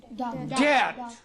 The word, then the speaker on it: debt: For example, debt. D-E-B-T. You don't pronounce B here.